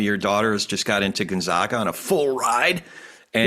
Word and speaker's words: Gonzaga: senior at Saugus, and she is headed to Gonzaga, and she reminds me of the pronunciation often.